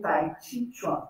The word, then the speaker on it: Tai Chi Chuan: Se a gente quisesse fazer a pronúncia mais afinizada, seria Tai Chi Chuan.